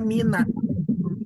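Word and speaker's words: مِنَ: Nah, huruf min yang termasuk ke dalam harap jar itu bisa dibaca min atau bisa dibaca juga seperti ini. Bisa dibaca mina bisa kita ah seperti ini bisa difathahkan nunnya. dengan syarat huruf setelah nun adalah huruf sukun. Kalau min setelahnya adalah huruf sukun, maka nunnya dibaca fathah.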